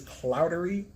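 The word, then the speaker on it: Clougherty: this ridiculous I do not know how to pronounce this clowder cloudery so she says cloudery it's okay okay the spelling is where is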